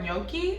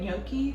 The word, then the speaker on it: gnocchi: The real reason I wanna go there is because I wanna try the cauliflower gnocchi. I think that's how you say it, gnocchi. I know it's spelled like G-N-O-C-C-I, something like that.